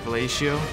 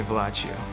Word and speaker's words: Vacho: and uh it became vacho and people pronounce it like valacio but it would be better if you just call me vacho so the process of